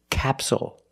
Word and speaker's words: capsule: and this word is capsule again the stress is on the first syllable so the second syllable is short it's not capsule it's capsule with a dark L at the end capsule so we see the